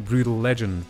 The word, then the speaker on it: Brütal Legend: yes i'm legally obligated to call this game brutal legend because this letter is pronounced ew in my native language you wouldn't